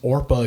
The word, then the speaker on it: Orpah: Her full name is Orpah Gail Winfrey. That's right. Interesting. Orpah, not Oprah.